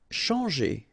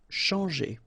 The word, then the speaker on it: changer: Changer. Okay, when you combine this C and H, you get the sound sh. And after that, you've got your nasal en, chan, and then g. Changer.